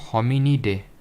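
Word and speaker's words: Hominidae: या फिर मैन होमन क्या इसको प्रोनाउंस करेंगे होमिनी डे ठीक है होमिनी डे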